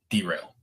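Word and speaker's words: De'Rail: This year that could look a lot different in terms of like how he manages Darrell Sims. Thank you. No, derail. Okay. It's DE apostrophe rail.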